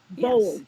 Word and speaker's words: Bowles: B-O like Spell it. and BOWLES. L-E-S? Yes, Bowls.